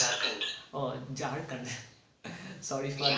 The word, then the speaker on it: Jharkhand: No, it's not Jharkhand. Sorry, It's Jharkhand. Oh, Jharkhand. Sorry for Yeah. that mispronunciation.